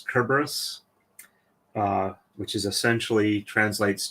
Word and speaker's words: Cerberus: marar his name is Cerberus because as I understand it in Greek um that's from with since there's no Soft C Sound it's all hard k type sounds with the c uh it's kerberus uh which is essentially